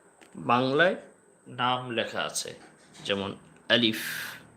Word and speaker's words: আলিফ: হ্যাঁ, অনেকে আছে এটাকে আলেপ, আলেপ বলে, মানে উচ্চারণটা স্ট্রং করে না, এরকম আলিফ, আলিফ হবে না, আলিফ, আলিফ, আলিফ বলতে হবে।